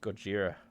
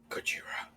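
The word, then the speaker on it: ゴジラ: It's pronounced Gojira. Gojira.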